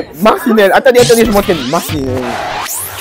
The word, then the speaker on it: Marcinelle: La Belgique, retrouvons notre envoyée spéciale Pauline à Marceline. Retrouvons notre envoyée spéciale Pauline à Marceline. Oh merde. C'est trop compliqué à prononcer. Marcinelle.